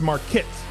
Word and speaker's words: Marquette: It's pronounced Marquette. Okay, I am Marquette. Is that right? Marquette. Terribly sorry for mispronouncing.